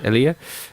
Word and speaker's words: Elia: pronounce his name? Is it Elia? Elia.